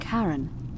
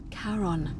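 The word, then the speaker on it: Charon: it's just as you described it only your pronunciation is a little off the name you heard wasn't karen it was c-h-a-r-o-n sharon caron the ferryman of the dead my god who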